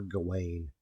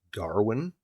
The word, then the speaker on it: Gawain: say like, oh, Sir Gawain, and it's like it's actually not pronounced as Gawain. Mm-hmm. It's more like Garwin.